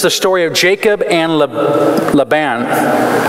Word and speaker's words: Laban: story of Jacob and Laban Laban laban's the right way to say it right and this part I'm